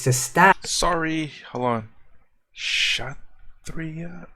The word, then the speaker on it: Kshatriya: Kshatriya? Okay. K was silent. I want to hear how you pronounce that. Kshatriya.